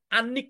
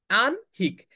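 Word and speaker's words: আহ্নিক: এটা কিন্তু আনিক না। আমরা এটাকে ভুল উচ্চারণ করি। আমরা বলি হচ্ছে আনি। এটার উচ্চারণ হচ্ছে আহ। আনহিক।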